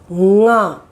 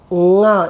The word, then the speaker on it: ङ: So this actually it is nga, nga. You touch here, it will vibrate, nga. Okay. Now here, to know that, I'll give you the words in English. Cling, cling. It sounds here, ng.